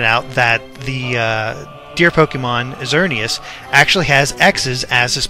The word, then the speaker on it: Xerneas: X, the one that represents Pokemon X, is Xerneas, and the flying one that represents the Y version is Yveltal. I think I'm pronouncing that right, Yveltal.